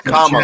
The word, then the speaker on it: Kamala: it's Kamala, Jackal. like comma in writing, literary comma. It's Kamala. Kamala.